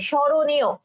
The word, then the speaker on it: স্মরণীয়: আচ্ছা, স্মরণীয়, তাহলে দেখো আমার জাস্ট এখান থেকে মটা যদি আমি বাদ দিয়ে দিই, এই ম অক্ষরটা যদি বাদ দিয়ে দিই, তাহলে কিন্তু আমার হচ্ছে উচ্চারণটা আমি মুখেই তখন করতে পারবো, ঠিক আছে?